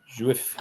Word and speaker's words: Jouef: Yeah, Joef. Is that how you pronounce it? Jouef. Juif, yep. Juif.